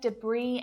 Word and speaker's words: debris: The storm left debris and damage across the whole island. What letter is the common silent letter there? It's that S. It's silent in words like island, debris, isle even.